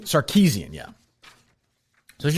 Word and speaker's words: Sarkeesian: So this Anita, how would you pronounce her last name? I don't. Sarkeesian? Sarkeesian, yeah.